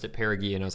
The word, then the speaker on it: perigee: word tripping up - it's actually perigee not para geek I pronounced it perigee and I was like